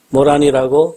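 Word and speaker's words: 牡丹: 한자 글자는 목단이라 적어 놓고 우리는 그것을 모란이라고 읽습니다.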